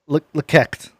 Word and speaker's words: LEK3CT: It's pronounced Lekekt. LEK3CT.